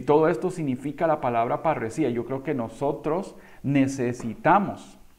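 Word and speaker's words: parresía: palabrita sí qué bueno se dice parecía se llama parecía y usted dirá y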